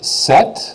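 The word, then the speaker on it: sept: said this was CE this is set like in volleyball you bump set and Spike so the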